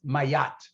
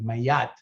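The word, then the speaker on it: Ma'at: idea of a why so it's like mayat a very light y there uh light in terms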